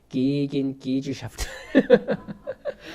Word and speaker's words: Gegengesellschaft: 그 사람이 교회를 뭐라고 이야기했냐면 게겐 게젤샤프트라고 이야기했습니다. 조금 더 원어 발음에 가깝게 하면 기긴 기즈샤프트.